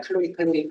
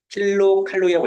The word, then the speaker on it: kcal: 이런 단위가 써 있는데 흔히 어른들이 읽을 때 이거를 그냥 칼로리 이렇게 읽어버려. 일단 그거는 잘못 읽은 거지. 킬로칼로리라고 읽어야 돼.